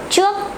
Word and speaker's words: trước: Pronounce like the word try or train in English.